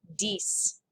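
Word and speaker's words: dix: as cease so how do you think it's pronounced dies basic five i've got a story to tell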